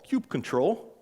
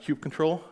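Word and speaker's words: kubectl: to actually do that there's a tool called cube control and yes it's pronounced cube control I was a cube con a few weeks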